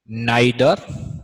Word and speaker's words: neither: Distributive pronoun आज की class में मैं आपको आइदर, इसे ईदर भी बोला जा सकता है, नाइदर, कुछ लोग इसे नीदर बोलते हैं, दोनों प्रोनाउंसिएशन सही हैं इसके, एनी और नन, हम इन चार की बात करने वाले हैं।